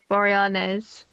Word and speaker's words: Boreanaz: Same with David Boreanaz.